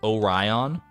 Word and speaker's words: Orion: quirked up sometimes in Greece we pronounced it o Orion Orion I say like Orion it's almost like it's an a instead of an o in the second part but Orion I guess I could